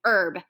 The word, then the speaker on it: herb: vow you're right but H is silent we say herb it is starting with